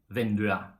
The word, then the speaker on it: vinduet: a noun, like for example in huset, bordet, vinduet. Okay, in these situations we do not pronounce the T.